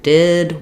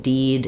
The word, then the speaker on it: did: my clients and speakers say things like it dided where the I vowel is correct in the word it and then when it comes to the stressed word did where I have to hold it longer that's where they get tense it dided instead of it did so when you do